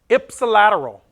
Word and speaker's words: ipsilateral: This is pronounced ipsilateral. That is an I, not an L.